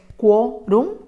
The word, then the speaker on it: quórum: se escribe con c la separación correcta es quórum con un diptongo en la primera de las sílabas terminen m y como dice quórum y lo que esperamos que diga es quórum necesitamos colocar una tilde en la o después analizamos una palabra